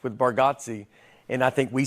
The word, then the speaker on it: Bargatze: I think you say our last name correct with Bargotsi and I think we say it wrong as a family.